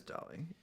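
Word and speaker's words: Dalí: and yes Ted Ryman that is a DOI that is dolly dolly I don't think there's an accent on the eye the Persistence of memory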